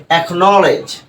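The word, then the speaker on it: acknowledge: ব্যতিক্রম যে শব্দটা রয়েছে একনলেজ একনলেজ এখানে কিন্তু কে টা কি হচ্ছে উচ্চারিত হচ্ছে এর কারণটা কি এর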